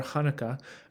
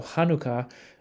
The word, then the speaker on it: Hanukkah: kind of follow along so Hanukkah is written with a het so it's really meant to have that sound at the beginning depending on your tradition